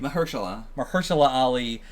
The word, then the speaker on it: Mahershala Ali: Mahershala Ali, is the voice at the end.